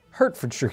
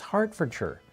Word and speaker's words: Hertfordshire: Apparently, that's not how you say it, even though I worked really hard on that. I know you don't say Shire. I know you'd probably shorten this up. Here we go. And it's like, that's not right, John. It's Hertfordshire. I guess. I'm probably still saying it wrong. Just like hobbits from the shore.